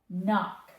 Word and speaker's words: knock: If we have two of them at the end, we just say it one time. N- knock. Like you might knock something over or you could knock on the door.